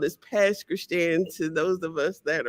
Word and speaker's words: Pass Christian: Only people that are from there know it's not Pass Christian. It's spelled as Pass Christian to those of us that are from there.